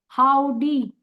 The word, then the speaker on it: HOODIE: इसको क्या बोलते हैं, हाउडी। हुडी लिखा है लेकिन हाउडी, हाउडी means how you will do इट I don't know, but you have to डू इट।